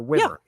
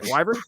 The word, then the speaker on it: Wyvern: protect the castle castle how was it pronounced in the series was it wyvern or wver okay wyvern okay I for the longest